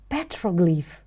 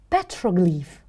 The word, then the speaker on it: petroglyph: Can you repeat after me? Petroglyph. First syllable is stressed. Petroglyph.